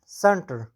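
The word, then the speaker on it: center: ورپسې سنټر، سنټر مرکز ته وایي. د سین اواز تلفظ کېږي. ولې تلفظ کېږي؟ ځکه چې وروسته ترې ای راغلی ده.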